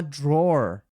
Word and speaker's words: drawer: Então, ele achou esse maço de cigarros in my drawer. Nota só a pronúncia de gaveta em inglês, né?